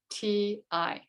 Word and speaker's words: Kayuvati: And it can be spelled with a K or a C. So it's Kayuvati.